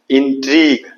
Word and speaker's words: intrigue: INTRI tree, GUE को दोनों को बोलेंगे गो, तीनों को GUE, यानी U और E साइलेंट रहेगा, U और E साइलेंट रहेगा, G का खाली उच्चारण होगा।